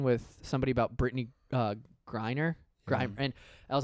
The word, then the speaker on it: Griner: I was talking with somebody about Brittany uh Griner and I was like she's like the most well-known WNBA player and I kept calling her Brittany grimer and then he's like you know it's Griner right and I was like that's how little